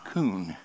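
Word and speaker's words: כון: And I found that little word ordered there in the Hebrew is a word that you and I would pronounce koon.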